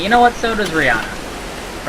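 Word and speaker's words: Rhianna: Oh no, it is Rihanna.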